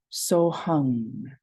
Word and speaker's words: so hung: do that here um the emphasis is on the NG um great all